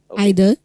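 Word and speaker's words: either: Exceptional sound इदर नीदर आइदर नाइदर height दी टू यू कैन से आइदर नाइदर और इदर नीदर both forms are accepted and this is height.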